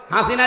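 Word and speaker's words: حسنة: এটা পার হওয়ার সময় এই নামটা উচ্চারণ হচ্ছে হাসিনা না হাসানা রব্বানাদুনিয়া হাসানা হাসানা আল্লাহ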